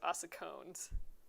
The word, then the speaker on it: ossicones: Oh, Amy says I'm pronouncing it correctly, so ossicones.